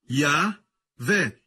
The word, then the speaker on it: Yahvé: Se pronuncia como Yahvé.